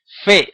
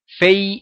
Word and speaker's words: fe: llevar por la pronunciación queas fe es lo correcto en la pronunciación sefardita y en Israel también fei es como lo pronuncian los askenaz los judíos de origen alemán básicamente dicen fe los